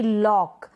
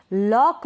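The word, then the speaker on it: lock: Examples है जैसे कि लॉक, लॉक में क्या है, के से पहले सी है, इसलिए हम सी को प्रोनाउंस नहीं कर रहे, सी साइलेंट है, लॉक।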